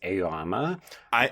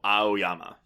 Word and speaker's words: Aoyama: It's like you're pronouncing the A-O. Aoyama. Okay. Aoyama.